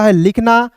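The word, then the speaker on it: whole: होल डब्ल्यू एच ओ एल इ को होल पढ़ेंगे। यहां पे डब्ल्यू को साइलेंट कीजिएगा।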